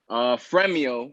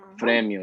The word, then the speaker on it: Fremio: The way it's spelled is like prize in Spanish, which is premio, but with an F instead. Oh. So Fremio, yeah.